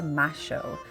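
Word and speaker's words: Mayo: in the Montserrat neighborhood is the Plaza de ma show note that the Y is pronounced as ash in Argentina this is a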